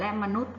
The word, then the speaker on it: มนุษย์: ออก เสียง ยอ ยักษ์ และ มนุษย์ ก็ ไม่ ออก เสียง ยอ ยักษ์ เช่น เดียว กัน นะ คะ